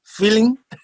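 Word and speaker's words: filin: her our own twist on the word we spell it f-i-l-i-n feeling you know what it is is um this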